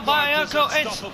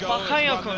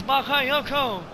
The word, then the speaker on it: Bakayoko: Well, and here we go, the first goal by Bayoko. It's AS Monaco 1, Dortmund now. So the first it's Bakayoko, sorry. I'm so sorry for the pronunciation, it's Bakayoko.